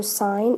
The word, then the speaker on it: sine: the first one is sine it's written s i n but we pronounce that sign the next is cosine